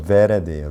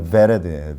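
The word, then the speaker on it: ורד: 로즈가 히브리어로 베레드예요. 베레드. 아까 바브는 이게 이제 비읍 발음인데 이 비 발음이 아니라 V 발음이에요. B 발음이 아니라 V 발음. 그래서 베레드예요.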